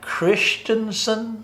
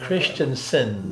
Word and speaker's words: Christensen: That's Christensen. Yes, it's not spelled S-O-N, it's spelled S-E-N. Christensen.